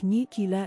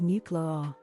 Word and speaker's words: nuclear: common but when people pronounce nuclear like nucular instead of nuclear my husband used to